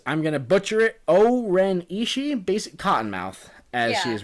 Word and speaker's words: O-Ren Ishii: and it is, I'm going to butcher it, O-Ren Ishii, basic Cottonmouth, as she is referred to in the film. Right. Is that it? Is that the right pronunciation? O-Ren Ishii.